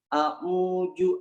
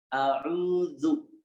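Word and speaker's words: أعوذ: Dalam lafaz a'udzu billahi minasyaitonir rajim ya, kita membacanya a'uju, ada yang membacanya a'uju, membacanya dengan jim ya, bukan dengan za gitu ya. A'udzu billahi minasy gitu ya. Nah, padahal di situ adalah huruf zal, a'udzu gitu ya.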